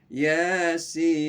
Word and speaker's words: Yasin: Ya, 2 ketukan, ya-nya. Tapi sinnya itu 6 ketukan. Yasin. Yasin.